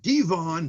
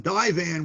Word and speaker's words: divan: while lying on some devon divan whatever you call it correct english pronunciation excuse me d-i-v-a-n while lying on it